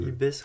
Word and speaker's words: IPBES: Ouais, qui se prononce IBES, je crois. Et ça va être. IBES rapport.